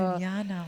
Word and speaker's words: Biljana: My old name was Biljana, but it's spelled Biljana, and everybody was calling me Biljana. And Biljana. It's horrible. Just J is pronounced as Y in my language. So Biljana, wow.